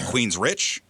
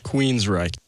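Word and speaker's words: Queensrÿche: The Y is pronounced as it looks.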